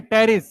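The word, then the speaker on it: Pteris: देखो कैसे पढ़ रहे हैं, पी साइलेंट है साइलोटम, पी साइलेंट है टेरिस, ड्रायोप्टेरिस, Adiantum, azolla, Salvinia, इन सबको कहते हैं फर्न।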